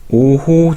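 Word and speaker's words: 於戲: 자, 그리고 시운, 오호, 전왕, 불망. 여기서 제가 어희라고 되어 있는 걸 역시 오호라고 읽었고요.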